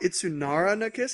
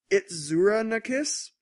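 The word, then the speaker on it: Itazura na Kiss: It's not Itsunara na Kiss. It's Itzura na Kiss.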